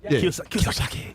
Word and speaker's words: Kiyosaki: Kiyosaki.